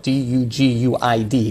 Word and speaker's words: Duguid: That's actually spelled d u g u i d, but pronounced Duguid as if there's a c and a k in it.